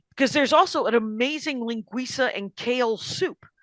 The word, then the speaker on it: linguiça: So wow, I just went off for about a minute on linguiça. No, I liked it. It's informative. I'm gonna pick up some linguiça. All right, and it's spelled linguica, but it is pronounced linguiça.